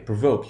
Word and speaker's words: provoke: And here we have the long value, provoke. You can hear the O in provoke. It sounds just like the letter pronounced in isolation.